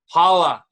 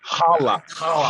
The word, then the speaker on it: Challah: Challah. No. I mean, that's the right word, but it's a terrible pronunciation. Challah. There you go.